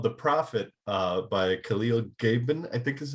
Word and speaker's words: Khalil Gibran: Yeah, there's this book called The Prophet by Khalil Gibran, I think is how you pronounce his name.